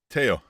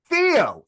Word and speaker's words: Theo: have a friend yeah name is spelled t h EO say it what's the name Teo Theo it's Theo I knew I knew